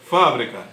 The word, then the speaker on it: fábrica: Quando eu uso o acento, eu pronuncio fábrica e ela se refere a um determinado local que produz um determinado produto.